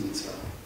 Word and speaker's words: Mitzwa: Mitzwa ist Mitzwa. Mit Betonung hinten.